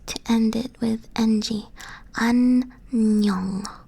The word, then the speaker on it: 안녕: This, by the way, that is not O. This is either it's NG. You end like a word with a sound, or you start a vowel syllable with this. So it would either be like 안녕. This, it ends with the ng sound, but this one, it starts with that because it starts with ah.